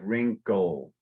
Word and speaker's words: wrinkle: Those are some long sentences, and that the idea of wrinkle, you don't want to pronounce the E. It's like wrinkle. All right, so I think you said a little more wrinkly.